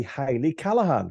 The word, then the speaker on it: Hayley Callaghan: Today I have with me Hayley Callaghan, which I hope I have pronounced correctly because people Yeah.